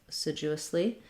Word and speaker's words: assiduously: So we have second syllable stress here. That means that our letter A is going to be the sound. Sidu. So this du is rather than being a d sound and a u sound, is more of a